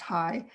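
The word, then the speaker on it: Hai: we call it high h-a-i it's pronounced high it's easy to say um was again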